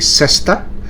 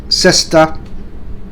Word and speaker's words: cesta: Okay, so harking to how the player or the High Ally player would look, so he would need a cesta.